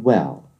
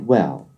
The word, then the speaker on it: well: Well 하실 때도 천장에 붙이시고요.